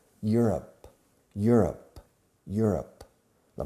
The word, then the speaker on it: Europe: France is in Europe. Europe, Europe, Europe. La pronunciación es como you are, you're, up. Europe. Acentuando la primera sílaba.